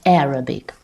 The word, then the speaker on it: Arabic: Pay attention, not Arabic but Arabic. The first syllable is stressed.